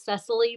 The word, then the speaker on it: Cecily: um my name is Cecily by the way it's pronounced necessity no problem no worries